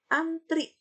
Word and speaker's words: antre: belum efektif kalimat tersebut Antri Antri ini tidak baku harus dirubah menjadi kata baku Bagaimana kalimat efektifnya beserta ujian ini kalimat yang baku an tulisannya antre tapi dibacanya antri tulisan yang bakus seperti